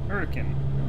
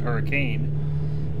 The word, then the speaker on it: Hurricane: Hurricane. Okay. I know, for those of you that don't know, it's looked like it said hurricane, but in Utah it's pronounced hurricane.